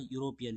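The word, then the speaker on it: European: इ ए इ आई ओ यू यहां पे इसका उच्चारण क्या आ रहा है? यूरोपियन यू।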